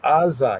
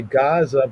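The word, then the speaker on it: Azzah: In English, we say Gaza, but that's not there. It's because that Ain is not pronounced as a regular A. It's not Azah, but it's Azah, right?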